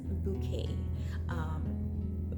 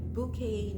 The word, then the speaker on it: Bucket: Hyacinth Bouquet. Bouquet, not as in the flowers, but it's spelled Bucket. But because she's so, extra, she pronounces it bouquet.